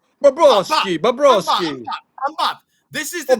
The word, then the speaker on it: Bobrovsky: Bobrovsky. Bobrovsky. I'm Bob. This is the thing with Bobrovsky. Rhymes with Porosky.